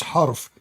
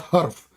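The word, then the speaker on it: حرف: It's harf, not harf.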